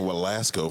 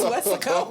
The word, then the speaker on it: Weslaco: I've been saying Walasco for so It's not long. Waxahachie? No, it's Weslaco. Wow. Wait, is Waxahachie a thing? Yeah, Waxahachie, It is, but that's no, Weslaco.